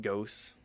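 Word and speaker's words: Gauss: He slays if you give him the Goss rifle, though. Well, that's going to have to wait a bit. Only 70 hit points, too. Uh, it's pronounced ghost.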